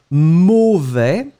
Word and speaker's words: mauvais: And the opposite, be careful, because quite many persons tend to mix the A right after the M with O. Remember that it's really A. And when you combine A and U together, I mean these two vowels, you will get the sound O.